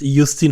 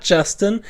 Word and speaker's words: Justin: isus folk H but in short it's just yustin H not Justin not just if you